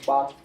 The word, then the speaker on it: Barth: And the most prominent theologians in this approach were Swiss Reformed theologian Karl Barth, or Barth. This is a German name, so the A in German is pronounced as T.